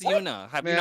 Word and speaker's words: Yuna: You guys call Yuna Juna? Is it Juna? Is it Yuna? Bro, it's Yuna.